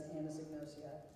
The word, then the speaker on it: anosognosia: Can you talk briefly about the work of the blue team and this condition known as anosognosia?